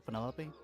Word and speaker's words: Penelope: is that short for Penelope officially yes but I never can be bothered with all four syllables of it Penelope sounds a